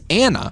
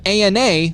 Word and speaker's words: ANA: for anti-nuclear antibodies it's an acronym that Ethan pronounces Anna instead of an Ana like most every Medical Professional does this also